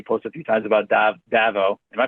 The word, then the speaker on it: DAVO: Yeah, the story you're mentioning, I've seen, you post a few times about Davo. Am I pronouncing that right? Davo? Yeah, it's Davo.